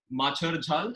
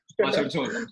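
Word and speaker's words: Macher Jhol: If you're in Kolkata, we are going to target audience who like Machar Jhal. Is that right? Am I pronouncing that Machar Machar Jhol.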